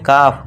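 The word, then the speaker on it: calf: इस तरह ए के बाद एल है, इसे क्या पढ़ेंगे, काफ, काल्फ नहीं।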